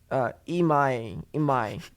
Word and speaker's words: Imai: So when something like if they are to sign this Japanese player, Imai, I'm trying here. Rhymes with my.